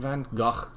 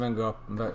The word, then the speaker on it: van Gogh: it painting by Vincent van Gogh van Gogh we Americans say van Gogh I love obviously you